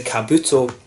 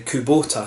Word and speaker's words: Kubota: this one so this one was the the Kabuto I am if I pronounced that correctly Kubota sorry the coup Botha shoes or from Hiroshima